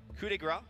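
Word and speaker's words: coup de grâce: Coup de grace, or coup de grace, as it's a correct pronunciation, in Slax's hand most likely will 100% take out that Luna.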